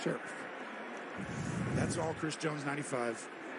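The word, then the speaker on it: Scherff: Chris Jones blowing it up see him take on Sheriff and that's how you pronounce it Brandon Sheriff told us it's sure that's all Chris Jones 95.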